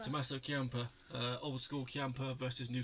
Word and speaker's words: Tommaso Ciampa: Tommaso Ciampa. Tommaso Ciampa.